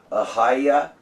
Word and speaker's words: Ahijah: the Hebrew language, and so it should be Ahiah, okay, and that's really, people need to take